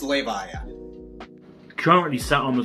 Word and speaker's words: Levia: are the content creators it's pronounced lay by yeah currently sat on